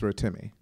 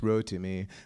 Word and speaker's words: Rotimi: name is rotimi it's rotimi I mean it's actually ideally pronounced row to me but that's difficult for American tongues to pronounce so rotimi is fine it's a Yoruba name